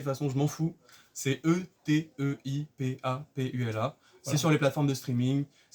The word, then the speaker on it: Eteipapula: Ete Papula, vous le prononcez de n'importe quelle façon, je m'en fous. C'est Eteipapula.